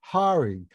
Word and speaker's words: Hari: you noticed this, Cora, that Joel pronounces Harry Hari, like Hare Krishna.